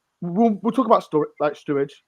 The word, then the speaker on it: Sturridge: Like I said, we'll talk about Sturridge. Sorry, I can't pronounce his name. I get it wrong. Sturridge, whatever. Surridge. There's no T.